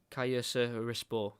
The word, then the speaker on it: Kayserispor: Bad pronunciation from me. I need to try and learn the Turkish teams. Kayserispor. There we go.